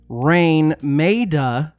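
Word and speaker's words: Raine Maida: 1992 in yes Toronto lead singer rain MAA and I promise you that's how to pronounce it because I it took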